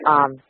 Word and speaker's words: Zendaya: as, of course, touring with the Disney star Zendaya. Is that how that's pronounced? I wasn't quite sure how to say that. Zendaya.